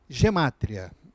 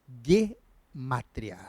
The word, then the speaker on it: gematria: de Israel costuma falaram muitos conhece como gematria bem essa forma mais latinizada de se pronunciar bem G matéria né alguns poderão ver mas a forma como é pronunciado pelos falantes de hebraico é gematria então o g e não tem esse som DJ né então fica g e a sílaba tônica fica no matéria bom então ele vem